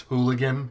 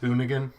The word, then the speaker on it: Hoonigan: you pronounce it but I always think it's hooligan but it's hoonigan their uh racing division